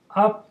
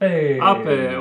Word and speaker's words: Ape: Piaggio Ape. Ape, or ape if you're not into pronouncing things.